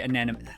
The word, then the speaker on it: anemone: Anemone, sorry, anemone. Fucking hell. Anemone. Please note that it's pronounced anemone.